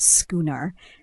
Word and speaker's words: schooner: First up is schooner, which is pronounced schooner, and it's a medium-sized glass of beer in Australia. You might hear someone say, "I'll grab a schooner of laga." And just remember the sh sounds like shh, not sh.